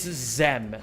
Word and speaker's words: Xem: Zem rhymes with Zem or Sem or Jam. It's Zem, as in Sem or like phlegm.